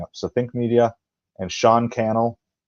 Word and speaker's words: Sean Cannell: So Think Media, and Sean Cannell, rhymes with YouTube channel, he says in some of his videos.